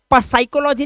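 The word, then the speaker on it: psychology: यहां पर P silent है प्रॉपर तरीके से। पी का उच्चारण होता ही नहीं है।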